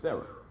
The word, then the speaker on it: Sarah: Of course the hey is silent, just like if you wrote out the name Sarah. When you put H at the end, you're not saying Sarah. You're not doing that. It's just Sarah.